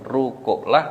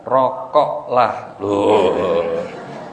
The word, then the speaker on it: rukuklah: tunaikan zakat dan rukuklah jangan salah baca ya Bu karena ada yang salah bacanya itu rukuklah dibaca rokoklah akirnya yang biasa merokok